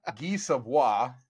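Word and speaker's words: Guy Savoy: got so much shade for all of our mispronunciations for saying Vegas Policy should say Nevada or Nevada instead of Nevada. But Guy Savoie, that restaurant at Caesar's Palace, they have an 1800 Madeira from Thomas Jefferson's collection.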